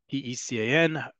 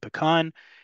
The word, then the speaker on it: pecan: In Hebrew, there's only one way to pronounce it, P-E-C-A-N, whether you are team pecan or team pecan. In Hebrew, it's simple, pecan.